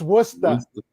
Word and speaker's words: Worcester: know what we say here in boston it's worcester oh yeah definitely not yeah i feel that one no war says everyone says warchester but it's worcester see marcia would have known that yeah oh